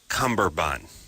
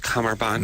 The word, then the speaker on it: cummerbund: confusing to me it I've always pronounced it cumberbund but I see it written and it looks like comer but I think that's correct cummerbund there's no comfort no cumberbund I think a lot